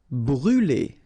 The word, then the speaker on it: brûler: Brûler. Alright, so remember to write this circumflex on the top of U, but then you don't pronounce it, so phonetically it doesn't exist, and it's brûler.